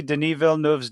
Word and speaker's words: Denis Villeneuve: Go see Denis Villeneuve's Dune. I had to watch a video to figure out how to pronounce that fucker's name.